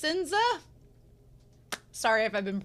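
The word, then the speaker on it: Sense: wolf and doggo um they said H that since is pronounced sinza sorry if I've been mispronouncing it this entire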